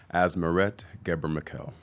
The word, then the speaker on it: Asmeret Ghebremichael: Asmerette Geber-McKell.